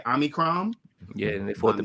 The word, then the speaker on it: Omicron: I believe that's how you pronounce it, right? Omicron.